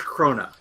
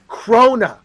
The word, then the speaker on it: krona: It's Swedish krona. Krona. Two syllables.